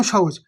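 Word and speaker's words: ثاء: গোড়া জীবের আদা এবং উপরের দুই দাঁতের গড়ার সাথে লাগিয়ে উচ্চারণ হয় তা আলিফ বা তাা সা উচ্চারণ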